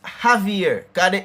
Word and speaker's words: Javier: it that is pronounced Javier the J sound like a H. So in a sense it is like div silent Javier Javier the ei if